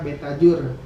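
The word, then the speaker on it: Betajoer: Kalau untuk di IG saya ada akun IG namanya Betajur. Betajur. U-nya pakai OE. Ini lama ejaan lama.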